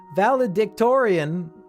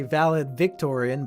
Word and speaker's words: valedictorian: i was the valid valedictorian i always pronounced that wrong i say valid victorian but there's i don't see that extra v in there valedictorian of my class